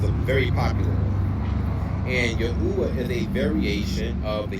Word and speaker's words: Yahweh: So Yahwa is not correct. Yahweh is generally considered the older more academically supported pronunciation of the Hebrew tetra grammaton.